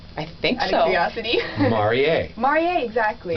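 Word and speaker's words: Marié: yeah well you know the only thing that makes it marier versus Marie is that little accent that goes over the E and it was not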